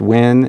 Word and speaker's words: Nguyen: your last name win it's pronounced win it's spelled n-g-u-y-e-n it looks like there's